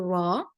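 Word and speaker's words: ر: okay and from here we pronounce the letter raw and then we are going to use the same tip to pronounce nine more letters today okay so thean was pronouncing raw itself without involving any letter any teeth okay then we move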